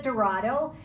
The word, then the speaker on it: Dorado: me here I actually my name is Dorado and that's El Dorado like the car that's how you pronounce it I grew up in